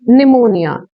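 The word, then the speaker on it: pneumonia: लेकिन यहाँ P जिनके सामने मतलब स्टार्टिंग वर्ड P है, जैसे PS, PN, PT, ऐसे वर्ड्स में P की साउंड हम नहीं देते।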